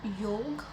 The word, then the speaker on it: योग: योग प्रोनाउंस होता है।